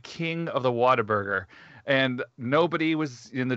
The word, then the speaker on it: Whataburger: left my job at whataburger he gave us like a stack you really worked at whataburger yeah a stack of tickets not what a burger whataburger that's how you say it here weird yeah whataburger i